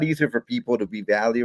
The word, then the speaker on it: Valle: Well, I was curious, whether are we pronouncing it incorrectly? And everyone calls you Valley Striking. Should it be Valle or is it Valley?